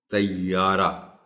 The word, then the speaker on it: طیارہ: سے گریز کیا جائے۔ طیارہ، عام طور پر یہ کہ اوپر کی شد کو غائب کر دیا جاتا ہے، اس پہ ذرا زور دے کر یہ پر شد کو پڑھا جانا چاہیے اور